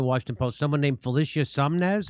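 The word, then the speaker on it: Sonmez: And then his colleague who also works at the Washington Post, someone named Felicia Sumnez. How do you say her name? Sanmez.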